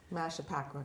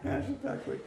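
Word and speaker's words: Mashpaquit Creek: Mashaquet Creek, which which goes That's the proper way to say it, I guess. I'm sorry. Okay. Mash Pacqua Creek. That's better. At least I know how to say it now.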